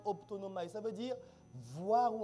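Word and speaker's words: ὀπτάνομαι: Ça se prononce optonomai.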